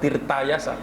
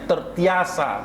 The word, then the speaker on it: Tirtayasa: Kerjasama dengan Sultan Ageng Tertiasa, bukan Tirtayasa, Tertiasa bacanya. Tangkap lagi sama Belanda, buang ke Ceylon.